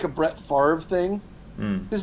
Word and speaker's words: Favre: Actually, it's sort of like a Brett Favre thing. Hmm. His name is spelled Favre, Yes. Favre. Yes. But he tells people it's pronounced Farve.